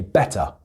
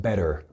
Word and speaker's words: better: And then another thing is that the T, when it's in the middle of a word, tends to be pronounced like a D. So for example, where I'm from, I say better.